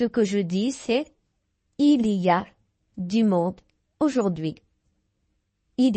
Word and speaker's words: il y a: Il, li, ya. Les Français, nous allons le prononcer ya.